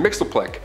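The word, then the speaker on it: Mxyzptlk: even translate into earth's languages but we collectively pronounce it as mr mixelplick he can manipulate anything and everything he's nigh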